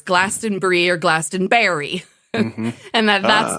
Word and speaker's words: Glastonbury: and Glaston and then for the Brits it had a picture of the brie cheese wheel and for Americans it had a picture of a raspberry so it's Glastonbury or Glastonbury and that